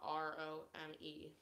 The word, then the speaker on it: ROAM: but they are called Rome. They are a UK band. Rome, like when you spell it, it's in all capitals ROAM, not ROME. Yeah, but Rome.